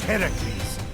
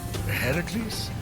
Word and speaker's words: Heracles: So, Phoenix, after boldly besting the Gorgon that ambushed Heracles. What are you doing there? That thing with your voice? Heracles?